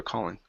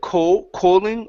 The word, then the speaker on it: calling: I believe it's either called or calling. I wrote down calling. Yeah. I called and I changed it calling. Yeah. So, um calling instead of co calling, open your mouth up.